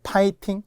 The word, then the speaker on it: 파이팅: 대부분 우리가 화이팅이라고 하잖아요. 그러나 F입니다. F는 100% 피읍이라고 했어요. 그래서 이제는 파이팅.